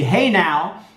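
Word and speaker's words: Hejnał: there on every hour a trumpet signal called the hedel meaning St Mary's Dawn and pronounced the hey now is still played from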